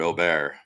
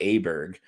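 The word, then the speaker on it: Åberg: use that letter but all it does is indicate how the letter is pronounced with the little letter over the top the little o so in with Swedish yeah it's like how are we supposed to know that it's not Aber Berg like we're just English-speaking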